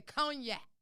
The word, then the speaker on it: cognac: um france you know over there where they say cognac they don't even pronounce the end but you got that